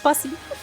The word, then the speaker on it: Buc-ee's: Pronounced Bussy.